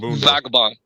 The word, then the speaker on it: Vagabon: say your name again v v vagabon vagabon or VAB vagabon okay vagabon like you you know look